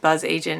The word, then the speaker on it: BzzAgent: I think it's just buzz agent now they tell you to pronounce the you even though it's not there I've done reviews for